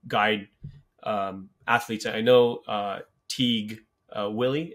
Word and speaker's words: Wiley: I know Teague Willie, is that his, how you pronounce his last name? Yeah, Wiley. Wiley, sorry. Teague Wiley, he's obviously, you know, had an amazing under 19 World Cup.